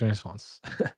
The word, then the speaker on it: Renaissance: because it's actually the end does not get pronounced, so it's actually Yeah. Renaissance. So that's why it's kind of weird. So she said, "What kind of sauce is Renaissance?"